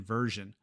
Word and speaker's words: version: There's shin as in action and jin as in version. But we're going to focus